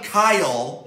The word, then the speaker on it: Kyle Lowry: would say hola Kawhi Leonard and Kyle Lowry Kyle good job as you all know pronouncing is a wrong for years it's nothing Kayal yep it's Pat Kyle now you cross between